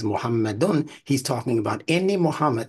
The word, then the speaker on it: Muhammadun: He pronounces it Muhammadun and Muhammadan. That's generic. That little AN sound and that UN sound, Muhammadun, that's generic.